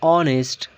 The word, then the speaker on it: honest: For example, an honor, an hour, an honest man. So here we have H, but H is silent here, and the O is a vowel.